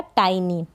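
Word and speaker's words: tiny: जैसे यहाँ पर है टी, क्या है, टी को ट प्रोनाउंस करा, और आई को आई तो बन गया टाई, और एन को न, और वाई को ई। यहाँ पर वाई को ई प्रोनाउंस कर रहे हैं, लास्ट में है इसको, तो ये बन गया टाइनी।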